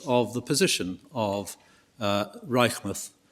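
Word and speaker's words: Reichmuth: the position of uh Reichmouth Reichmouth as I'm told it's pronounced uh and the late redeemers.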